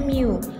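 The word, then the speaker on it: μ: ya mirip seperti ini Ini bacanya Miu kalau Miu itu adalah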